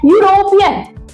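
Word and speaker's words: European: तो देखो बच्चों स्टार्ट किससे हो रहा है? ई यू से, पर बोल क्या रहा है? यूरोपियन, यूरोपियन। तो यू आ रहा है ना प्रोनाउंसिएशन में साउंड, यू वोवेल साउंड नहीं है।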